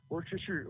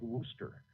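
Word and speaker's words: Worcester: all sh you know if you look at wer sauce Worchester it Worchester War Worchester and it's pronounce something like Worster Worster sauce and so he's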